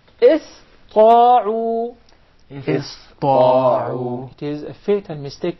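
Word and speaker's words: اسطاعوا: the letter Sin, and instead they would pronounce it as Sad, because it suits more the Ta.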